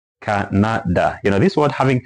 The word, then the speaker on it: Canada: So, for example, this word, because it's a noun, language say that we need to stress the first syllable, C-A, ka. Then these 2 should be short. Canada.